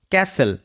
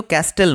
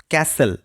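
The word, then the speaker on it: castle: Next word রয়েছে ক্যাসেল। এটা কিন্তু ক্যাস্টেল নয়। এর উচ্চারণ হবে ক্যাসেল যার অর্থ হচ্ছে দুর্গ বা কেল্লা।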